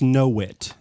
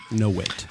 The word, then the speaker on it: novit: That's nobody, all, and I don't know what novit means. Wait, is it N-O-V-I-T? Ask your doctor if Novid is right for you. That's pronounced no-wit. V's in Latin are wuh, no-wit.